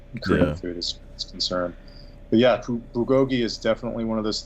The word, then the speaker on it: bulgogi: that oh let me see if I can pronounce it right BA Gogi yes bulgogi okay you know I I'm not Korean but